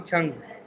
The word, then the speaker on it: Chang: तो पहला कंफर्म होना चाहिए कि इसके अंदर कितने सिलेबल है, 2 सिलेबल है, छांग, एंड the second one इज छंग।